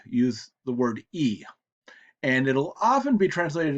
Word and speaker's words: y: Now we're going to look at the other strange object pronoun that we called them before, the Y, which is pronounced E.